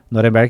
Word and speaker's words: Norenberg: Sim, então pode me encontrar no LinkedIn, que é Norenberg, com K, Norenberg, que é como se fala, mas o pessoal tem dificuldade, então é N-O-R-E-M de macaco, B de bola, E-R-G.